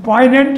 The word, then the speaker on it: poignant: In poignant, it is not pronounced. Yes, poignant is not sounded.